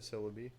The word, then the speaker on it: Celebi: Like celery, but Celebi.